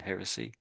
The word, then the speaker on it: heresy: think so I we we pronounce the h though we pronounce the hu Heresy.